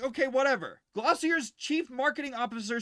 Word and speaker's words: Glossier: Uh, I'm actually going to look up how this is pronounced first. Glossier. Glossier.